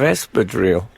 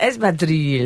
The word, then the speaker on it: espadrille: Yeah, I wonder if you'd like to endorse a range of espadrille. Why did you say it like that? Espadrilles. You're supposed to You say sound it. like Ronaldo or something.